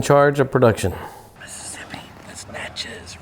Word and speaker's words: Natchez: of production mississippi this natchez rhymes with matches we're making a movie